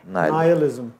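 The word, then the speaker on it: nihilism: Actually H is silent in that, नाइलिज्म।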